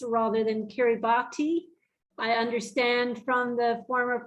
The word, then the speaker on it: Kiribati: wonder why I say Kiribati rather than Kiribati, I understand from the former president of Kiribati that the typewriter was broken when it came to writing S's. So they put them as TI.